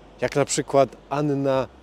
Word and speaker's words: Anna: jest Też żeś są dwie takie same spółgłoski obok siebie to wymawia się obie jak na przykład Anna dżownica w szkole Uczyłem